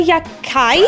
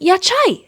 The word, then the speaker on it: Yachai: It's about this boy, Yakai. Of course I butchered the main character's name. His name is Yachai, actually, not Yakai.